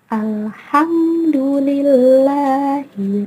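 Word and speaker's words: الحمد لله: Alhamdulillahi Rabbil Alamin. Alhamdulillah. Hukum bacaannya adalah idhar qamariyah. Mengapa disebut idhar qamariyah? Karena ada lam alif diikuti oleh huruf H. Cara membacanya harus terang dan jelas.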